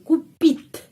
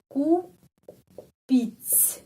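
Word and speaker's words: купить: Jadi pengucapannya ku pit begini kupit terus kupit pohon natal.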